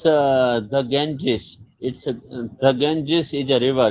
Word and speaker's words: Ganges: Yeah, the Ganges. In, Yeah, the in, Ganges. But Kunal bhai, in English they pronounce it the Ganges. Not Ganga.